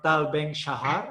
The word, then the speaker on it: Tal Ben-Shahar: Es instructora en felicidad por el profesor de Harvard, que tendría que pronunciar aquí, doctor Tal Ben-Shahar.